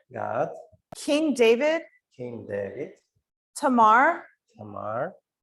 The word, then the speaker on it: Tamar: The next one is not Tamara, it's Tamar. Наступне на українській Тамара, але на англійській без останньої букви А. Тамар. Tamar. Тамар.